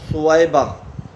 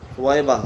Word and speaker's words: ثویبہ: کا عام رواج ہے۔ تیسرا ہے ثویبہ، ثویبہ، سا کے اوپر پیش، واو کے اوپر زبر، یا کے اوپر جزم، آگے با کے اوپر زبر آخر میں ہا۔ اور یہ تلفظ جو